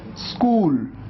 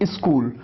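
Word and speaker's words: school: में उसके कॉन्सोनेंट है, तो ऐसे में आधे स की ध्वनि आती है। स्कूल, ये है आधा स, कूल। कई बार स्टूडेंट्स इसको गलत प्रोनाउंस करते हैं, ऐसे कहते हैं स्कूल, आप ई लगा देते हैं। ई नहीं लगाना है, आपको शुरुआत करना है आधे स से।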